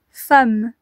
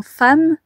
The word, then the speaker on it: femme: Dans femme, nous entendons bien A, fa, A, mais nous ne le voyons pas. C'est un E, mais ici, le E est prononcé comme un A.